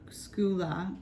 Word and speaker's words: Scylla: Scylla, pronounced Skula, is a Greek sea